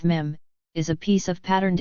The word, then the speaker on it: meme: A mime is a piece of patterned information carried and expressed by a human brain, just as a gene, which rhymes with meme, is a piece of patterned information carried and expressed by DNA.